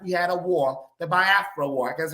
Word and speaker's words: Biafra: after they left we had a war the Biafra War that's how it's pronounced she was like so we couldn't take